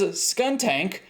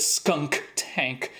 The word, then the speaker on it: Skuntank: And that's because Skuntank does not have that middle K. It really bothers me when people pronounce it Skunk Tank.